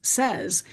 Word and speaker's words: says: We add an S, And isn't it interesting to notice that the pronunciation becomes says, but we know how to spell say, and then we add that S and suddenly it's not an irregular word.